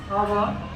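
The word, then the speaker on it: hour: Less than half an आवर, less than half an आवर, आर भी बोलते हैं, अवर भी बोल सकते हैं। एक्स साइलेंट होता है इसमें, ये ध्यान रखना आपको।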